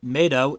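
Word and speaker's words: メイド: The word Meido is in the title is a play on words where the kanji means underworld and is pronounced the same as maid in Japanese pronunciation.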